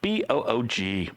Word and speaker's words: Boog: Spelled B-O-O-G, Boog.